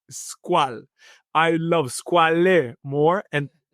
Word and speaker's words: Squale: It pains me to hear an Italian say it's a French word and he pronounces it as French. So, it is unfortunately squal.